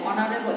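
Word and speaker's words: honourable: আর যদি এইচ এর উচ্চারণ এইচ এর মতো না হয়ে ভাওয়েলের মতো হয়, তাহলে তার পূর্বে কি বসবে? এন বসবে। যেমন এখানে আছে কি our headmaster dash অনারেবল ম্যান, অনারেবল এখানে কিসের মতো উচ্চারিত হয়েছে?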